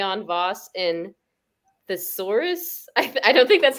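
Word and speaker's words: Tesarus: other members are helix k on voss and thesaurus i i don't think that's how you pronounce it that's his name no you got it right that's his name thesaurus uh and all of them basically turned into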